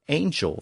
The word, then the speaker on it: angel: angel from church Latin originally the word was Angel but after the Norman Conquest the word re-entered the language and the modern pronunciation with the soft G evolved after the French influence of the Middle English period the Romans had borrowed